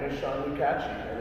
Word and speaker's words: Lukacsy: The CS is pronounced ch. So it's like Lou and then catchy. Lukatchi.